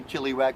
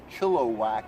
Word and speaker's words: Chilliwack: said Chilliwack and I didn't know it's pronounced phonetically Chilliwack but it's pronounced Chilliwack according to their Vaness so he said hey